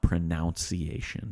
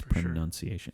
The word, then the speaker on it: pronunciation: a totally different thing do say pronunciation not pronunciation there's no o there it's pronunciation and same with enunciation do say probably don't